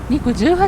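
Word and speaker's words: 肉18: 18 と書いて肉 18 と読むそうです松坂は牛肉で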